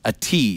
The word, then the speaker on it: ATIV: First of all, we had a hard time knowing how to pronounce it. It's ATIV.